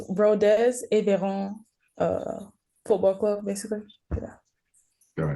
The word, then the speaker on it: Rodez Aveyron: So, I mean, if you could pronounce the club name for our viewers and listeners, probably that would be amazing. It's Rodez Aveyron Football Club, basically.